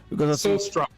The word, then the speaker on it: Solstroem: Is it Sol Strom? Is that the way it's pronounced? Sol Strom.